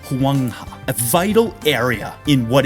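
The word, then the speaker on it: 黄河: At this time, the Sinid phenotype was primarily concentrated around the Yellow River, pronounced Huangha, a vital area in what is now modern China.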